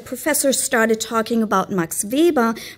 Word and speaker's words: Weber: started talking about Max VBA pronouncing it in proper German as Viba it took me a